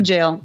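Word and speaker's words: gaol: like Idaho no Idaho well reading nothing she pronounced that's uh that's like Gaelic I think right reading reading g-a-o-l oh no jail yes jail this is the way they spell Jalen 1897.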